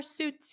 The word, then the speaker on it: suits: friend, wow, that color suits you. Or you could say that blue shirt suits you, suits you. So notice the pronunciation here. Oot, oot, suits, suits, suits, suits you.